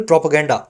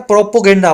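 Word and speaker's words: propaganda: बोलने में आता है प्रोपोगेंडा पर बोला जाता है प्रोपगेंडा। पी ए लगा हुआ है पी ओ नहीं है।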